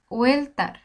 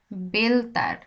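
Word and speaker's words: Walter: হবে দেখেন দেখাই আমি নরমালি কি পড়বো ওয়েল তার ওয়েল তার ওয়েল তার পড়বো কিন্তু আসলে ওয়েল তার না বেলতার কি পড়তেছি আমি বেলতার বেল তার বোঝা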